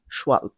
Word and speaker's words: Schwalbe: ওকে, pronunciation নিয়ে তোমরা confusion পড়িও না। এটার স্পেলিংটা হচ্ছে SCHWALBE, শোয়ালব।